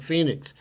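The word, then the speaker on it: Fenix: And the Garmin, am I pronouncing it correct? Phoenix 6? Phoenix 6. Oh, Phoenix 6? Okay, like Phoenix.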